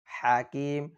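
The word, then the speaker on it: الحكيم: করে ওয়াহুয়াল আজিজুল হাকিম হাকিম হা শব্দটি শক্ত করে আবার ওয়াহুওয়াল আজিজুল হাকিম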